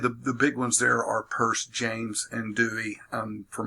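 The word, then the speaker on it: Peirce: first espoused by a fellow named Charles Sanders purse this what is pronounced purse it's spelling out there's not Pierce in mid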